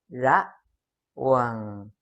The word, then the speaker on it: ระหว่าง: Between ระหว่างระหว่างระ high tone ระหว่าง low tone หว่างระหว่างระหว่าง but be careful to pronounce it correctly, otherwise it becomes ระหว่าง high tone followed by mid tone ระหว่าง in Thai ระหว่าง is to be careful.